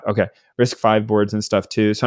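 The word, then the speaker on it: RISC-V: boards or risk V I don't know actually how you say it but I think it's five yeah is it five okay risk five boards and stuff too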